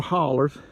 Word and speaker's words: holler: into other valleys and Hollows or hollers let's pronounce it right it's a holler uh and there's like